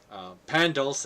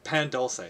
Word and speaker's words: pan dulce: Oh, pan dulce is just so good.